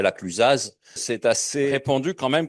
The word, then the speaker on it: La Clusaz: Or, personne dirait la Clusaz.